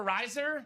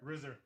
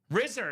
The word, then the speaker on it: Risser: Is that Riser? Rizzer. Rizzer. That's how you say it.